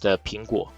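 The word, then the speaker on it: 苹果: something it's because Apple in Mandarin Chinese is pronounced Pingu the Ping in pingua rhymes with uh peace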